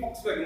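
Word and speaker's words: Volkswagen: चलो आप ये होमवर्क रहेगा, आप देख लेना एक्चुअल प्रोनाउंसिएशन इनकी फॉक्सवैगन ही है।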